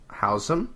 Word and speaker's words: Housem: Housem. That's how you pronounce his last name.